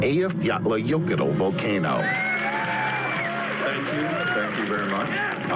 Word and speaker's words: Eyjafjallajökull: Next is the volcanic eruption which many have heard of, but few can pronounce its name. Eyjafjallajökull volcano.